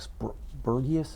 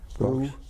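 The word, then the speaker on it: Brüx: Now, the mission where you had to land at the British airfield was a refinery to Burgius. Am I pronouncing that anywhere near? Brooks. B-R-U-X? Yeah, we go to Brooks.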